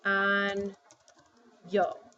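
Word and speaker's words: año: sounds like in Y so when I have a word like this I know I pronounce it like on yo ok or if I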